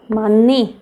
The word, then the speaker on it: 많이: आपको पता है हियत जो है सबसे ज़्यादा कमज़ोर है, उसके आगे साइलेंट है तो भी वो उससे हार जाता है, ओके, तो इसका साउंड होता ही नहीं ग्रेट, तो ये क्या बनेगा, मन्नी, मन्नी, मन्नी, मन ई मनी, ओके।